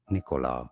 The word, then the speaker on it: Nikola: Nikola, not with very strong stress on it, but it's certainly not on the second syllable, not on the ko syllable. Nikola. I've heard Tesla, people say it like that, Nicola. Nikola Tesla, and now you know.